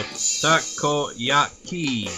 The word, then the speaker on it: takoyaki: It's takoyaki. You're fail so much of pronunciation, so takoyaki.